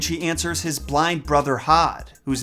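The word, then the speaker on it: Höðr: kill Baldur, and she answers his blind brother Hod, whose name is actually pronounced Hothur if you're not butchering it like the the American pig that I am.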